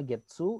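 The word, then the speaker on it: 月: Itu dibacanya Getsu, itu maksudnya Getsuyobi hari Senin.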